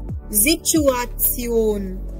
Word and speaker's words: Situation: Then the next word is die Situation. T-I-O-N will be Zion.